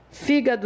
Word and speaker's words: fígado: Então, se você vai usar a palavra fígado, fígado é uma proparoxítona. A força dela está na antepenúltima sílaba.